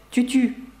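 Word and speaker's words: tu tues: ти вбиваєш французькою це Тютю Чому Тому що ви знаєте щос не читається наприкінці слів і виходить так Тютю ти вбиваєш і останній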